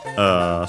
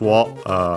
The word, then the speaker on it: を: Then we have the object particle o, written as wo, and pronounced as such in careful speech and also singing.